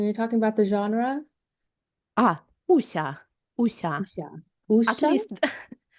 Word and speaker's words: Wuxia: Before I ask this question, how do we pronounce this? Wuxia? Wuxia? When you're talking about the genre? Wuxia.